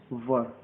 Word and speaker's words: were: इसको क्या है, वाज और वर, इसको वेयर नहीं पढ़ते हैं, बहुत लोग वेयर पढ़ते हैं, तो ये प्रोनाउंसिएशन रॉन्ग है, आपको पढ़ना है वर।